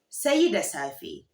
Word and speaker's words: sai da safe: Good night is sai da safe. Sai da safe, which literally translates to until morning. Until morning. Sai da safe. Sai da safe. Now, how would you respond to sai da safe?